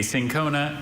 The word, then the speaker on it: cinchona: A sincona is a tree of a genus native to